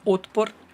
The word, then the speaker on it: Otpor: And also he pronounces this very badly. He says it very badly. It's Otpor.